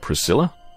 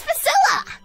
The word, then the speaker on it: Pasilla: flow or something whatever are you sure you don't mean Priscilla do I look like the kind of person who can correctly pronounce their own name it's pasilla what's your name smarty